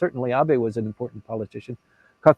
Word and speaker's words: Abe: their name until Mr Abby came back on stage and then uh it took them a couple years to figure out that it's pronounced ab and not Abe So that's a that's